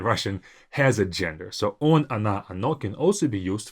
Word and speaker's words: оно: Because these O's are not stressed, we pronounce them as A, just to make it a bit easier for our mouth.